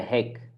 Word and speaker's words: hik: So we say ziek, it's a bit longer, right? So that means sick, right? Ik ben ziek. Or you can say, ik heb de hik. I have hiccups. De hik. Short, ziek, long.